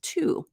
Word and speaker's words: to: the word individually is two it rhymes with the number however with the reduced